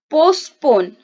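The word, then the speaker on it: postponed: Then पोस्टपोन, ठीक है, यहाँ पे भी ईडी साइलेंट होगा।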